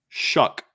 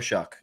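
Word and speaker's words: Shough: I pronouncing his last name right Tyler Tyler shuck Tyler shuck okay it's pronounced like sh sh u k okay I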